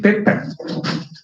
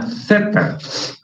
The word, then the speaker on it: zeta: o a quién se le ha ocurrido llamarle teta. Esa palabra no existe en griego. Es más, si lo pronuncia así como teta, lo que es teta,